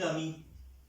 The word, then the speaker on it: amie: Pronunciation दोनों की सेम होगी, c'est un ami, c'est une amie।